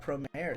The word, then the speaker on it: Promare: where everybody in the comments was like, it's Promare.